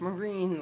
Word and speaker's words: Marin: correct me go ahead it's pronounced Marine like the US Marine okay that's an I